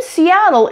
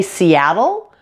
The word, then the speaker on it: Seattle: exactly the same way to correctly pronounce the S sound you should flatten your tongue to the bottom your mouth and the sides of your tongue will stick out between your upper and lower side teeth and your lips are